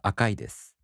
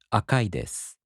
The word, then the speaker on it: 赤いです: In both types, the accent falls on the mora before I. For example, the downstep type word 白い turns into 白いです. The flat type word 赤い turns into 赤いです.